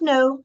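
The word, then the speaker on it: know: And no changes to new. Fíjense que la K no se pronuncia en ninguno de los dos casos.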